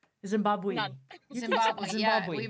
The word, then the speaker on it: Zimbabwe: And even, and I had to adapt to, I bet you did too, because I reckon there's not much snow in Zimbabwe. Zimbabwe.